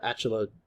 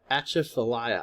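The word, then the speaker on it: Atchafalaya: the mississippi river and the achala excuse me the achathalaya i believe that's how you pronounce that river i believe is right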